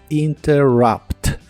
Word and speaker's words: interrupt: inglés es interrupt them la u de la palabra interrupt se pronuncia como a interrupt y la palabra them